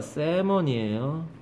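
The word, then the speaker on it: salmon: 사진 정리해서 옛날에 연어예요 발음은 l이 묶음이라 새먼이에요 반복해 주잖아요 열심히 하는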